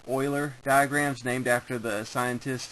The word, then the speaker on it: Euler: and these are called Euler diagrams named after the scientist and mathematician Leonhard Euler some people call him the master of all mathematicians his name sounds like the word oil but it's spelled e